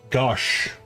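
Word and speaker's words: gauche: Pronounced gosh.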